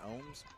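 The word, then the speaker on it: Oehms: It's probably easy to say about O-E-H-M-S, Ohms.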